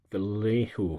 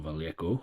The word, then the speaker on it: Vallejo: So I used a mixture of Vallejo colours, or Vallejo, however you want to pronounce it, to produce the green.